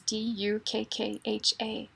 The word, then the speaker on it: dukkha: Well, it's spelled differently in Pali or in Sanskrit. In Sanskrit, it's D-U-K-K-H-A, dukkha.